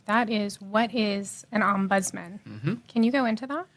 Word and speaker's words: ombudsman: a lot and that is what is an ombudsman can you go into that sure actually get how do you pronounce that word first yeah so it's it's umman so udman so udman is actually a Swedish